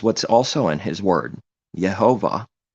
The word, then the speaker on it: Yehovah: Yehovah, with the stress mark at the end.